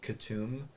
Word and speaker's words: Katoom: them uh Fantasy names like katum the spelling on it is just like totally crazy um yeah it's it's spelled it k-a-t-o-o-m but it's k-u-t-u-m um uh oh there